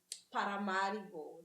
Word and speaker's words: Paramaribo: right word so how do you say it Paramaribo that's how they pronounce yeah so even all the the places